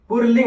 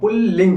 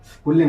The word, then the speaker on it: पुल्लिंग: तो ये हमारा पुल्लिंग शब्द होता है इसको कभी कभी कोई पुरलिंग बोलता है। पुरलिंग यानी राग जैसी ध्वनि आती है तो वो हमारा शब्द उच्चारण की वजह से होता है। यानी वो शब्द उच्चारण गलत तरीके से होता है। लेकिन जो सही होता है वो पुल्लिंग होता है, पुल्लिंग होता है।